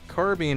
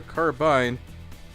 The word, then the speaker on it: carbine: spelling and pronunciation rules in the case of carbine or carbine both pronunciations are correct